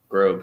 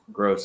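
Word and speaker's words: Groß: was offside Germany have gone up 2 one grob scor but that's how you pronounce it I will have another look as soon as my phone decides to work properly gross is his name never mind okay horrible pronunciation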